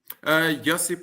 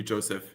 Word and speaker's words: Josip: It's Josip. Is that how it's pronounced? Josip or anglicized version would be Joseph.